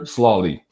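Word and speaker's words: Sloly: Peter Slawley. It's not slowly. There's no W.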